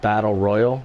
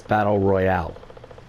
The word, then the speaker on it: battle royale: that i mispronounced it it's not battle royal it's battle royale there's an e at the end of it so i'm i'm trying